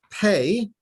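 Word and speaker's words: פא: Pei, as in Passover or peach pit. Do you see the peach pit in the middle there? There's a pit in the middle of the pei.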